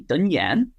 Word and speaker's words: Tân Giang: But when it comes to Tân Giang, I've chosen to embrace the northern pronunciation, even though I live in the south. And so when I introduce myself to Vietnamese people and I say, Tên tôi là Tân Giang, my name is Tân Giang, if they heard me correctly, they'll say back to me, Tân Giang, and I'll say, no, Tân Giang.